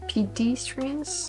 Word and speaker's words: pedestrian: me pedestrians pedest pedestrians pedestrians pedestrian pedestrian so you emphasize the second one pedestrian this is hard